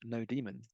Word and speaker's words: nodemon: also we're going to use node Monon sometimes pronounced node demon exciting um that just